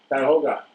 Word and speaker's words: Cuyahoga: Cuyahoga, if I'm pronouncing that right? Cuyahoga, thank you.